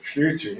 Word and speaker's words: Schlitter: And as a related, somewhat related to the whole KSK role issue, is that Jakob, I can't pronounce his last name. Jakob Schlitter. Schlitter, yes, anyway.